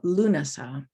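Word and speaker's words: Lúnasa: of august is now lunasah spelled slightly differently but pronounced the same in ireland this is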